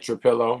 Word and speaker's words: Trapilo: You're right, Trapilo.